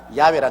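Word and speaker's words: 야훼: 지어 성취하는 야 하나님이신데 야라 해도 좋고 여호와 좋습니다 그러나 야외라 말이 더 정확한 발음입니다 이런 하나님께서 시작하셔서 하나님께서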